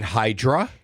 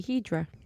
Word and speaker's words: Hydra: Then Hydra. Yes. Then back to Athens. I think they pronounce a Hedra. They do pronounce it Idra. They don't even pronounce the hard. It's Idra.